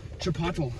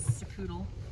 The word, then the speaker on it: Chipotle: Chipotle, as the Brits say. Our grandpa says, Sapoodle. And I think he was serious the first time, but now he just does it for our benefit.